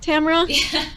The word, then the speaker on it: Tamara: week's guest tamara romeo is that how you pronounce it tamara okay yeah you got it you got it